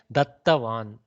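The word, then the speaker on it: dattavān: Dattavan. Dattavan. Little, what we call this, how do we pronounce these double letters is, you give one halant attack, then you repeat it a little bit.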